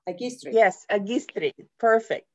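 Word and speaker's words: Αγκίστρι: Agistri. Like Genio, Agistri.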